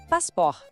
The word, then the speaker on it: passeport: Un conseil précieux : le « ot » final est muet. Essayons : « passpor ».